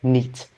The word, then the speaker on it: NEAT: Or you can simply pronounce this as NEAT, N-E-A-T.